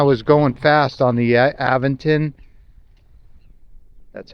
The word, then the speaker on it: Aventon: I hope it does, especially when I was going fast on the Aventon.